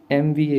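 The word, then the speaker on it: MBA: एमबीए लिखा है। एमबीए आप प्रोनाउंस करेंगे तो ए आएगा।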